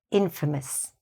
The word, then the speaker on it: infamous: And the pronunciation is different. This one is "famous". This one gets reduced at the end, so we say "infamous".